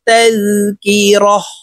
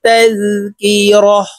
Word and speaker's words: تذكرة: সহিত পড়ব ইন্না হাযিহি তাযকিরাহ বলতা ওয়াকফের ক্ষেত্রে হার উচ্চারণ করব এবং হাকে সাকিন করে ফেলব তার উপরে জজম ব্যবহার করে আমরা হা বলে সাকিন করে ফেলব র হা জবর রহ এভাবে পড়তে হবে ইন্না হাযিহি তাযকিরাহ ফামান